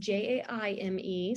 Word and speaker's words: Jaime: And yes, I am on all the things, Jaime, and it's Jaime.